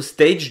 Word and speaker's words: Stage: que fan du verdabm j'ai toujours dit stag en tout cas c'est comme ça que ça s'écrit mais il est Danois je me suis renseigné ça se prononce stage voilà et ben pour